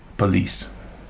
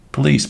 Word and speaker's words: police: Az első szó a rendőrség volt, police. A helyes kiejtésben a második szótagon van a hangsúly, nem az elsőn, és az első egy schwa hang, azaz egy ö hang.